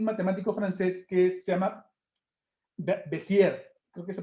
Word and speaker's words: Bézier: El fundamento de todo esto es unas ecuaciones y unas fórmulas de un matemático francés que se llama Bézier. Creo que se pronuncia Bézier, pero es Bézier.